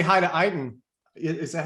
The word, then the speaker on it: Eytan: hey, I just want to say hi to Eytan. Is that how you say it? Eytan?